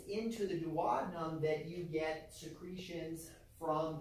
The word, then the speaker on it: duodenum: The first is called the duodenum, all right? Some people pronounce it duodenum. Potato, potato. All right?